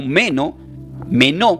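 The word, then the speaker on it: μένω: Del griego lo puedes mencionar como menó, con acento en la E, menó, que significa permanecer.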